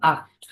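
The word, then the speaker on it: acht: না ওকে কি হবে তাহলে আক্ট আক্ট হবে এই যে সি এইচ এর আগে যদি এই ওয়ার্ড গুলি থাকে কি থাকে এ ও ইউ এবং আও আও এগুলো যদি থাকে এগুলোর পরে যদি সি এইচ থাকে তাহলে কি হবে উচ্চারণ খ এর মত হবে সো 22 এর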